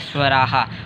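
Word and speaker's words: स्वराः: इसका प्रोनाउंसिएशन यही होता है स्वराहा।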